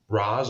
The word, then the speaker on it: Ra's: and we may see Raz or Rach, however you want to pronounce it, Ra's al Ghul.